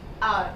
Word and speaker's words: hour: Hour. Only hour we pronounce. This H is pronounced silently.